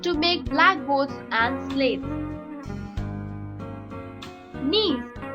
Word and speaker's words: gneiss: Gneiss. G-N-E-I-S-S, pronounced gneiss, is formed by the metamorphosis of granite.